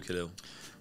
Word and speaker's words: Khalil: my name already so my name is khil or if you if you come from an Arabic background you can say my name as which is the correct pronunciation um yeah